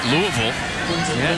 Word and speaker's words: Louisville: And as, of course, being the pro that you are, Tom, you pronounce that Louisville right. Louisville. You know, they get upset up there when you say Louisville.